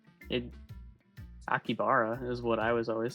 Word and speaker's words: Akihabara: Akihabara. Akiabara. How do you say it? What is the We went over this before. I think it's Akiabara. You said it. Akibara is what I was always saying.